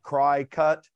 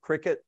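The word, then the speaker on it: Cricut: it's i think it's spelled c-r-i-c-u-t like cry-cut but they pronounce it cricket and i i don't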